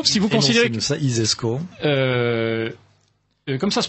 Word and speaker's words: ISESCO: i alors l'isesco si vous considérez que ça isesco comme ça se prononce ainsi donc si vous imaginez le celi